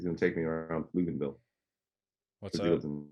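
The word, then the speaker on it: Pflugerville: It's spelled PF Luganville, in case you were curious. PF Luganville. Why in the world was it spelled that way?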